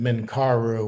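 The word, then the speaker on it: Menkaure: on the left is we pronounce it Menkaru. When we were there, they pronounce it differently, but slightly differently.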